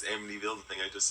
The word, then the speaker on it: Amityville: I was like, is it the horror movie Amity Emity? Horror. It's Amityville. The thing I just said. Oh, yeah. Can't pronounce words.